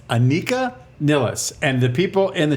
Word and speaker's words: Anika Nilles: Anika Nilles. Anika? and IKEA. She works at IKEA? Niles. I heard Rick Beato say Annika Niles. No, it's Anika Nilles.